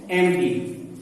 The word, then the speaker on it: empty: एम्प्टी, इसमें क्या होता है, इस वर्ड में देखिए जो पी है ना ये साइलेंट है यहाँ पर, EMPTY, लेकिन पी की यहाँ पे कोई वॉइस नहीं आ रही है, ये साइलेंट लेटर है, तो इसको बोलते हैं एम्प्टी।